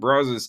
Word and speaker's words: Brazos: I looked into buying a brazus smoker and brazes is the correct way to say it I've I've learned over